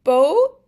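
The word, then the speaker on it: bó: Bo has a long o here. Bo means cow. Bo. So this long O just goes O, O, Bo. And it's like the B in boat, or the B O in boat.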